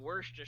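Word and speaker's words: Worcester: I pronounce it War Chester Shire the first syllable is war that's not what it is in Worster sauce it's w it's not war it's w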